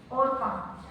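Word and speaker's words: Orpah: ये ट्रेडिशनली बताया गया है कि जो रूथ थी और उसकी जो बहन थी ओरपा, कई लोग ओपरा भी प्रोनाउंस करते हैं, तो ओरपा जो थी, दोनों बहनें राजकुमारियां थी।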